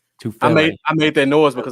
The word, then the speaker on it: Tufele: Is it Tufalele? Tufele.